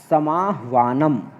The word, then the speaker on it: समाह्वानम: कस्मिंश्चित् विचिन्त्य साध्विदं क्षुधार्तः एतच्छ्रुत्वा भयसंत्रस्तमनसां सिंहपदपद्धतिः समाह्वानम। यहाँ देखिए विसर्ग दिया हुआ है, विसर्ग गलत प्रिंट हो गया है, आप उसको, यहाँ विसर्ग नहीं होगा, समाह्वानम केवलम, समाह्वानम प्रतिध्वनि।